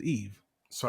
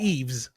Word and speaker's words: Yves: Who is Eve? So Not Eves, but that's Eve. right. The S is silent. Make sure you get that right.